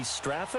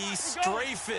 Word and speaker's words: Strafen: It was held in mid-December, and your winner, I.B. Straffen, or is it I.B. Strafen? You've got the pronunciation guy. I.B. Strafen. Strafen. My bad, Mr. Strafen.